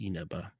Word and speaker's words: Inaba: Matt sent me a little cheat sheet with like how you pronounce the vowels. You're right. It is Inaba. That's correct.